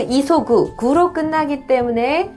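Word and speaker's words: 急ぐ: 보시면은요, 이 급할 급자를 써서 그래서 그 이소구하고 그리고 키우니가 있는데요. 이소구라고 읽으면 이건 동사겠죠. 서두르다라는. 그 다음에 이걸 키우니라고 읽으면 갑자기라고 하는 단어로 쓰입니다. 그러니까 이렇게 급자 써놓고 구라고 돼 있으면 큐구가 아니라 이소구.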